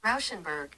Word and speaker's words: Rauschenberg: This is how you 'Cause he pronounce his should name. be. Rauschenberg.